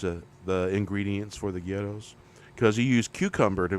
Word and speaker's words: Gyros: know get us Greek ghettos um good stuff um some people know them as Gyros but that's the incorrect pronunciation just so you know